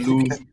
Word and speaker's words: Louvre: Is that another pronunciation No, problem I we've think, got? Louvre.